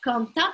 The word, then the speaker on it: quant à: Обратите внимание, quant à пишется на конце, quant à произносится.